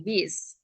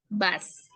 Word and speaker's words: bus: Ya, bus ya, bukan bis. Bus. Karena U itu dibacanya A ya dalam bahasa Berarti benar ya, Miss, Inggris.